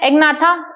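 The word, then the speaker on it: Agnatha: एग्नाथा ए को साइलेंट मत रखिएगा।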